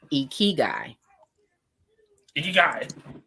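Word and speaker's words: ikigai: with me so um the word is actually Japanese and it's pronounced eeky e so uh the it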